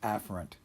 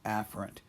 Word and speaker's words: afferent: but please know that this term is usually pronounced as afferent right afferent but I find that it it goes by